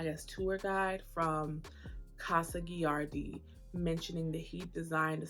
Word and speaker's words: Gilardi: I mentioned when I went to Casa giardi was pronouncing that completely wrong earlier in the video I was giving G the energy that a Spanish H is supposed to have and I don't again